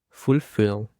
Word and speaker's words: fulfill: Fulfill. The stress is on the second syllable.